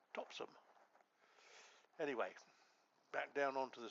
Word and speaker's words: Topsham: which is the correct Devonian way of pronouncing Topsham. And I think most of us that are outsiders call it Topsham, as opposed to Topsham.